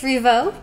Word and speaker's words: Rievaulx: in it oh my the lx i think it's revo uh better french speakers